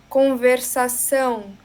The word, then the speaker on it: conversação: Então, eu vou repetir algumas palavras que você não pronunciou ão para a gente treinar. Aí você pode repetir. Bem. Então, Então. então, Então. conversação, Conversação.